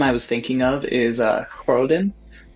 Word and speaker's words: Khrodan: The house name I was thinking of is Khroden. It's spelled Khrodan.